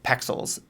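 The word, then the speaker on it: Pexels: find my images number one free place is pixels and it's p e x e l s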